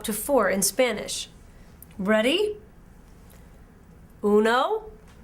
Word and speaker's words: uno: the number and words the number one is pronounced uno in spanish uno ready to say